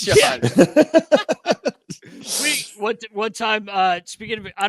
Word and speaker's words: Shjon: It's Sean. Yeah, it's Sean.